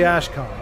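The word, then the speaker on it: Ashkhan: Is it is it pronounced Khan, though? I feel like it should be pronounced Khan. I think it said can can but Oh, he says it's for the Ashcon. He does say con. Okay. It's just unfortunate. It looks like can.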